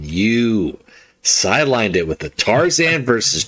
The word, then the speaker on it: Tarzan: I know it's not spelt the way I'm pronouncing it, everyone. For anyone who's ever angry at my pronunciation, that is the worst mispronunciation I have. Where I move the R around out of spite.